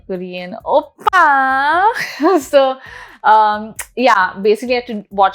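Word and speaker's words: 오빠: your older brother and obviously you gotta say it like a korean oppa so um yeah basically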